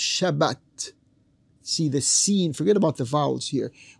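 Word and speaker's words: שבת: The Arabic seen, the Arabic Semitic seen, became a Hebrew Semitic sheen. And they don't say Sabbat, they say Shabbat, Shabbat.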